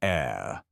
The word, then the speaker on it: heir: This is called an heir, pronounced like heir.